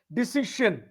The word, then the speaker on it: decision: Sion should be deci, C or S. Okay. Deci, as if it is DESI, suppose. If Yeah. you're pronouncing it as DESI, which is deci, shin, Mm-hmm. not sin. Yeah.